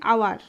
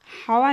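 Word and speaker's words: hour: একইভাবে অ্যান হাওয়ার, অ্যান আওয়ার, হাওয়ার নয়, এখানে এইচ এর উচ্চারণ হচ্ছে না, তাই অ্যান বসছে।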